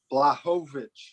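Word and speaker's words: Błachowicz: Jan Blachowicz.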